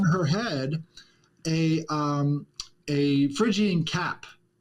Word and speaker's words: Phrygian: Yeah, and and the Statue of Liberty used to be depicted with that same uh How do you pronounce the Phrygian Phrygian cap? yeah. Phrygian cap, there we go.